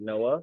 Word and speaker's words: Noa: And then I went back and listened and she was like, it's spelled like NOA. And I was like, oh my gosh, like that's But crazy. you pronounce it Noah?